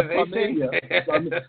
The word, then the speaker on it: famiglia: Yeah, Familia.